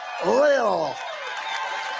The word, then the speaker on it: Lil: Lil Pump, L-I-L, Lil. I said, how do you pronounce that? They said Lil.